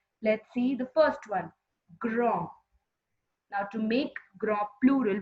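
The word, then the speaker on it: grands: So it has become grand, grand. Children, make sure that whenever we add one S to the plural form, we don't pronounce that S of the plural form.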